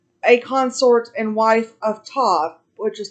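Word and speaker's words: Ptah: consort and wife of todd which is called p t a h the p is silent tall was an old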